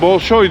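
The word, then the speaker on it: Большой: Ve Opera gösterileriyle ünlü Balsoy bizde bolsoy diyorlar ama sanıyorum ruscada Balsoy diye okunuyor büyük tiyatro demek Evet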